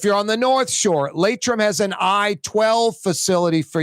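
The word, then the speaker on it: Laitram: That segment's always brought to you by Latrim, the global manufacturing giant that's hiring right now.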